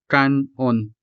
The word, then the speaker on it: kan-on: Also take note that these two syllables are separated by either a hyphen or in some cases simply by a space. But the pronunciation stays the same. Kanon.